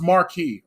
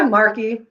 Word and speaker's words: Mark: your videos uh now your last name is pronounced marquee right yeah marky whatever what's your ethnic